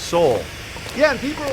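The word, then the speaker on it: Sowell: bear says Thomas sa's surname is pronounced Soul yeah and people are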